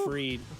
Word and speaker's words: Fried: crochet going up against Freed, which fun. is weird that it's spelled fried, but it's pronounced Freed.